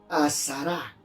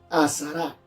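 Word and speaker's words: עשרה: Viene de una palabra hebrea, azará, que significa 10. Azará, A-S-A-R-A, acento en la A.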